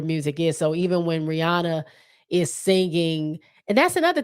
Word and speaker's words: Rihanna: impressions of Rihanna singing well Rihanna is the way you say her name but we call her Rihanna um it's just it's